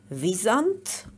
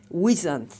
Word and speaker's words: wisent: Another name is visant or wisant. The English pronunciation can be either original German pronunciation visant or wisant. So both are correct.